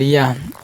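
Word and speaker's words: ي: এবার ইয়া, ইয়া স্বাভাবিক উচ্চারণ হবে, জিহ্বার মধ্যখান তার বড় উপরের তালুর সাথে লেগে উচ্চারণ করতে হবে।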